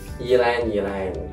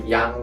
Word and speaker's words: ylang: So some people doesn't know how to pronounce it. They probably say yang or something like that. Yeah, that one is a little weird because we don't normally have Y and L together.